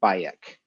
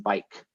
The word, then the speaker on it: Bayek: asked like well okay why the vocalization bayek where did you come up with that pronunciation because we don't actually know what the middle egyptian would have sounded like they said well we named him bayek because we didn't want to call him bike because that sounded too